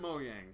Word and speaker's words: Mojang: And they pronounced it Mojang.